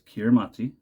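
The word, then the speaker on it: Kiritimati: myrrh in here because kiramati is Christmas the ti makes an S sound wow the more you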